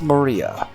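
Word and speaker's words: 真里亞: Of course, it's pronounced Maria.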